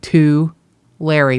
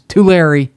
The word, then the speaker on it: Tulare: I want to separate like two Larry, but it's Tulare. Yeah, just pretend you're writing somebody a letter. Tulare. Oh, stop it. All right, Tulare County, Tulare the city, blah blah blah blah.